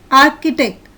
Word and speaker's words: architect: In the second picture, the syllables CH are pronounced as k, choir.